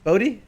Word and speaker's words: Bodhi: come with your name right Buddha if I pronounced that right right right Buddha Bodi oh oh okay buddy okay vibration now for